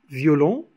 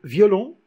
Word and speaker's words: violon: La diérèse est la prononciation en deux syllabes de deux voyelles ou plus qui se suivent. On a deux voyelles, par exemple ici, violon. On a le I suivi du O. Deux voyelles qui se suivent. On les prononce en deux syllabes. Par exemple, au lieu de dire violon, on dit violon. Violon, violon, violon.